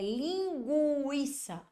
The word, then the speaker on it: linguiça: tenho um dígrafo aqui na palavra linguiça Olha aí eu não tenho dígrafo por quê Porque eu pronunciei o som do u é linguiça olha só tá vendo